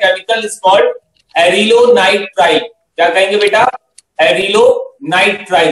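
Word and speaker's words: acrylonitrile: ठीक है, इसे हम क्या बोलते हैं बेटा, एरिलोनाइट्राइन, सो the spelling is ए सी आर वाई एलओ एन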